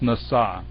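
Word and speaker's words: נשא: over on the left hand side anyway it's pronounced NASA and it means to lift up really not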